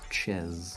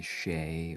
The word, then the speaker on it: Ches: Well, my name previously to was Ches, and quite often people call me Shay or Shaz.